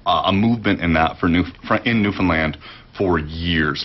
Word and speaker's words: Newfoundland: How did I say it? Newfoundland, the right way. Most people say Newfoundland that aren't from there, right? Get it right, people. Come on.